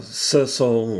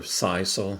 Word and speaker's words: sisal: a piece of uh sizzle rope or sisal however you want to pronounce it i guess if you're in the south you say sassal anyways uh this rope